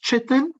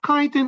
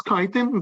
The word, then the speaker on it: chitin: made up of Titan some teachers pronounce it cheating chitin or Chetan for me it's kaitin that's what I learned from my doctors however they don't have